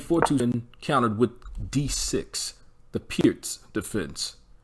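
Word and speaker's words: Pirc: d6 the pierce defense i hear a lot of players phonetically mispronounce it by calling it the perk defense but it's called the pierce defense named after the slovenian grand master vasia pierce 427 controls the e5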